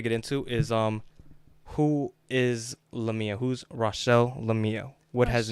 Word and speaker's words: Lamia: Before I start, I actually need to know, is it LaMia or LaMia? It's LaMia. Okay, so I said it right the first time.